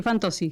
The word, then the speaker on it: Fantozzi: me encanta hablarlo y me encanta pronunciar bien la letra Z en italiano, o sea que Fantozzi, ¿verdad?